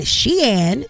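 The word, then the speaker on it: Shein: Shane Sheen as it is pronounced announces price adjustment amid tariff changes.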